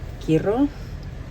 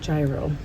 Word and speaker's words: gyro: But the gyro, not gyro, or maybe gyro, depending on where you're from, how you pronounce it.